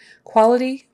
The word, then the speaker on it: quality: usually an easy sound quality quality it's a KW for that quality increases we let more